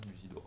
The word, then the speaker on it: Musidora: film là-dessus dont le surnom est était mus Musidora Musidora comme ça se prononce Musidora voilà et donc vous allez la voir parce